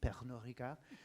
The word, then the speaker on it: Pernod Ricard: Note the French pronunciation, Pernod Ricard.